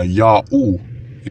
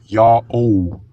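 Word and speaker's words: Yao: Kung ang pangalang ito ay binibigkas na Ya-U, edi dapat wala na ang lasso glyph at iniwanan na lamang ang quail chick glyph. Kaya naman ang pagbigkas talaga dito ay Ya-O.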